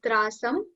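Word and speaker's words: त्रासं: Just like trasam, it's a long A over here.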